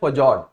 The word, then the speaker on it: fjord: ऐसे ही एक लैंडफॉर्म है, वहीं पे दे रखा था, जिसको प्रोनाउंस किया जाता है फजॉर्ड, FJORD।